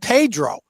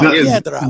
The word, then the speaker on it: Piedra: I think he said Pedro. But no, Piedra.